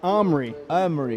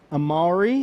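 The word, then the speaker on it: Amaury: it and he said omri omri like two syllables armory armory and i said it's not amari and he said that's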